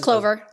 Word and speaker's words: Clovyr: I believe it's Clovyr is the pronunciation. Just Clovyr. Clovyr?